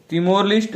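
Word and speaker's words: Timor-Leste: इसमें जो 11 देश थे, लेकिन 11वें देश जो तिमोर लिस्ट है, इसकी तिमोर लिस्ट तो मैं इसे बोल दे रहा हूं, लेकिन शुद्ध जो उच्चारण है इसका तिमोर लेस्टे है।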